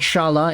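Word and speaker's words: Šalé: say Charlotte even though the spelling actually has a little Accent on top of the E indicating it might actually be pronounced Chalet but I've been hearing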